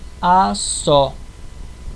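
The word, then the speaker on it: asó: continuando temos o s o s do Tupi ele sempre tem som de s s mesmo entre vogais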